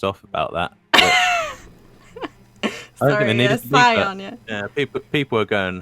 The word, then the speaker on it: Scion: Just in case there are any people that seem to be a bit irked by the pronunciation of Skion. Oh, Skion. We do know that the proper pronunciation is Scion.